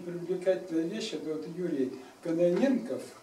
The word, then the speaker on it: Кононенко: Это вот Юрий Кононенков. Вот я всегда путаю с Каненко, фамилию не могу произносить правильно. Кононенков, правильно? Кононенко. Да, Кононенко.